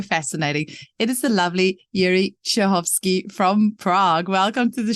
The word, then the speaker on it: Jiri Cehovsky: How would you say your name in Czech, just so we can hear it correctly? So my name is Jiri Cehovsky.